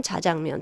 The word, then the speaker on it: 자장면: 변화 가능하다 변동 가능하다 짜장면 자장면 둘 다 표준어입니다 왜 많은 사람들이 짜장면으로 발음하자 둘 다 허용된 발음으로 인정을 하고 있거든요 그래서 사회 구조는 변동